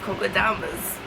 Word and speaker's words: kokedamas: But yeah, kokedamas, that's how you pronounce it.